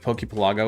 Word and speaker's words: Pokepelago: You can believe Pokepelago would be pronounced like Archipelago, so it's Pokepelago.